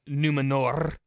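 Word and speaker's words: Númenor: The Unfinished Tales of numenor in Middle Earth as you know gotta say it like uh they said it in rings of power gotta roll your r's I enjoy a good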